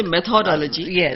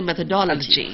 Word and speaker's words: methodology: how to pronounce itology they shouldn't say methodology but they should say methodology yes so and they